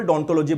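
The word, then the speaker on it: odontology: इसकी स्पेलिंग ओम से आती है, लेकिन इसको हम जो बोलते हैं ना, जब प्रोनाउंसिएशन करते हैं तो सिंपल डोंटोलॉजी बोलते हैं।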